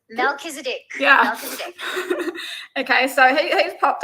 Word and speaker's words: Melchizedek: and Mel Mel I can't say his name malzique Melchizedek yeah okay so he's popped up he's um